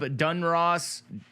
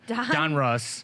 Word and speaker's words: Donruss: we are opening up dunross I say it wrong every time Donruss Herbert uh yeah